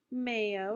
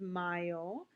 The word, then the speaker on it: mayo: carefully this is not Mayo remember in Spanish the a y is an I so it's Mayo remember the pronunciation of